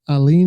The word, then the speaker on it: Aline: out there on stage, Taylor Aline. Is that how you pronounce it? Yes, sir.